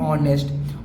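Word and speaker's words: honest: Pronunciation करते हैं तो यहाँ पर एच क्या होता है, साइलेंट होता है, तो इसको हम क्या पढ़ेंगे, ऑनेस्ट।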